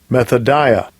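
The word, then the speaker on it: μεθοδεία: Here's that word, wiles, the pronunciation in the Strong's G. Strong's G 3180, methodia.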